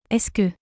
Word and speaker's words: est-ce que: Est-ce que je peux parler avec toi, Paul? These three letters, EST, is pronounced like E.